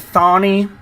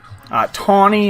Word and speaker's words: Thani: All right, this was a current fight from Ben Askren last year in April, going against Algani Thani. Tawny is actually how to pronounce it, from nearby Singapore.